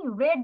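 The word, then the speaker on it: read: past I হ্যাড রিড the book okay I রেড the book had হবে না রিড যেটা লিখেছিল সেটাই থাকবে ওটার প্রোনাউন্সিয়েশন হবে রেড রিড রেড রেড আই রেড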